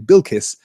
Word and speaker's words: Bilquis: to billquist um see now I'm pronouncing it the way they pronounce it on the TV show having just trained myself to pronounce her name bilis now I'm gon to move back to pronouncing it bilquis so that I'm consistent with Brian Fuller's vision of this character um Vivian says they're